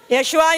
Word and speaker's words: 예슈아: 있는 이름 무슨 이름 예슈아 이름 예슈아 예수 예슈아 지저 뭐 수스 다 똑같은 어 말이지만 다 이름이지만 그나 이제 슈아는 바로 히브리식 발음입니다이 시간에도 바로 주일이 세상